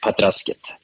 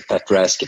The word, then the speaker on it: Pat Razket: Petra's kit okay and sometimes in the in the beginning we used the Swedish or pronunciation Patras kit okay alright but nowadays we use the fat rest because we're and we're not playing in Sweden at all only in Germany yeah well let's let's start